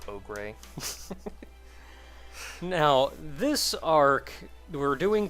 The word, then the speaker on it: Ogre: I'm sorry, my name is pronounced Ogre.